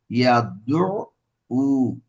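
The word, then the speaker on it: يَدُعُّ: উ ইয়াদু উ, يدعو আইন 2 বার। তাসদীদ যেহেতু আছে, প্রথমবার হচ্ছে জজম দিয়ে, তারপরের বার পেশ দিয়ে। যেহেতু তাসদীদের উপরে কি আছে, পেশ আছে। প্রথমটা হচ্ছে সবসময় জজম, তারপর একটা পেশ। আইনকে 2 বার উচ্চারণ করতে হবে।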